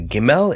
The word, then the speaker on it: Gimel: we're looking at the gimmel it's the third Hebrew letter and this letter originally used to be pronounced as gum and if you look